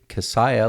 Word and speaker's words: Kissiah: business owner uh cassiah like Messiah that's the way to remember the last name that's pronounced thanks for